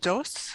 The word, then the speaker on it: Dos: uh what is jane doss all about well it's jane jose like two as in the spanish number two yes uh but please continue to mispronounce because it's funnier that way yes